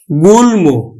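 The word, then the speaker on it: গুল্ম: ম ফলা যুক্ত থাকে তাহলে এই ম ফলার উচ্চারণটা হবে যেমন দেখো এখানে ল আছে তাহলে আমরা লিখলাম গুলমো ল এম যুক্ত গুলম তাহলে কিন্তু এই যে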